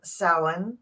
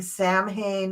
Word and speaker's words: Samhain: so Gerald and I are here discussing um sin and that is how you pronounce it is sa um I you you're perfectly welcome to go ahead and keep saying Sam Hayne or sah Hayne but it's not how it's pronounced not in